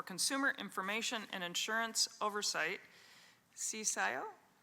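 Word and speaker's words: CCIIO: Cisio uh pronounced pronounced cisio.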